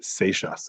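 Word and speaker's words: Seixas: cute um his name was Robert gershom Mendes seishas that's how you pronounce it last time um and there are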